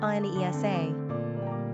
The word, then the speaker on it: Anissa: Number of syllables, 3. Ranking popularity, not applicable. Pronunciation, Anesa. Simple meaning, little friend.